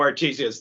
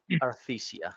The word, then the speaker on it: Arthesia: especially if you know Artesia's dead. Oh yeah, that's true. Arthesia.